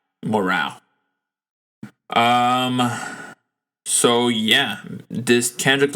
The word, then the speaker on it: Mr. Morale: this kendrick lamar album mr morale and the big steppers i believe that's how it's pronounced because on the album baby keem um he pronounced the album as mr morial morale um so yeah this